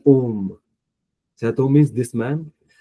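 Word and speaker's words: homme: We don't speak H. Seth Om.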